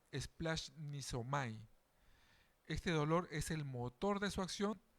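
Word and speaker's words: σπλαγχνίζομαι: Hay un vocablo griego que se pronuncia splash niomai. Este dolor es el motor de su acción de sanar y enseñar. Esta palabrita splash nisomai.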